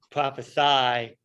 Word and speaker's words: prophesy: shared with you and if you see it with an s prophesy that's the verb that's what you are you are prophesying to the people does